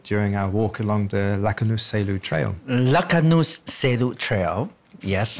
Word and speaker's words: Raknus Selu: Like a Shaolu in Chinese. So Selu. Right. Right. So you have to say it slowly. And in fact, as you walk the trail slowly, you say the trail slowly, syllable by syllable.